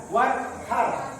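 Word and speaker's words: وانحر: Izhar ini kalian harus bacanya jelas ya, ngejar ya. Harus bacanya jelas. Enggak boleh wanhar, enggak boleh. Harus jelas wanhar. Nunnya jelas, haknya juga jelas.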